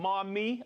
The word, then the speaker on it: Maumee: Andrew from Maumee, Ohio. Maumee. Hi, Maumee. Maumee, is that how you say it?